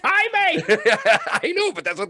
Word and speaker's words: Jaime: Jamie Munguia is how they say it. It's Jaime.